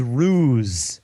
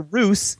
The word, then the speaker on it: ruse: the way Dan the the word is ruse the word you are looking for for me to pronounce correctly is ruse however Roos is uh a dialectic uh except a dialectically acceptable alternative oh there you go